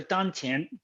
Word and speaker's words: dantian: the dungeon okay so he talked about the dun tin uh you pronounce absolutely correct that is this is two